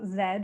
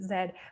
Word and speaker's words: Z: our shared border and you pronounce zed as z and i have rewritten it to be like as zeus has plainly said for the canadian crowd because north of the border we do pronounce it zed but that's one of